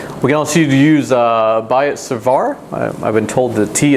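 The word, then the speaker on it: Biot-Savart: in a second we can also use uh buy it cervar i've been told the tea is silent here like colbert and basically we're looking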